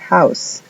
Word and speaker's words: house: Luego tenemos house, que quiere decir casa. House, la H suena como J, house.